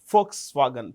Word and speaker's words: Volkswagen: V is pronounced with an F, so it's Volkswagen, people's car.